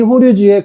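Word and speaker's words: 法隆寺: 그거는 이제 실체가 알고 있는 거하고 다른 거니까 나중에 얘기하기로 하고 이거를 호류지라고 발음해요. 호류지.이 이 호류지의 금당 석가삼존물 금당에 있는 석가삼존 물상과 일본의 불쌍받침에 전송되어서 어 당시 백제 불교 문수리 이상을 알 수 있다.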